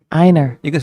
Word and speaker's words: Einar: It's like A-N-A-R. If you want to think of it that way.